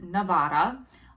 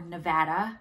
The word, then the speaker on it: Nevada: So I go on Human Milk for Human Babies, Nevada on Facebook, or Nevada. The locals tell me I say Nevada wrong. I say it like an East Coast person.